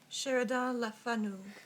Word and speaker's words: Sheridan Le Fanu: Sheridan Le Fanu.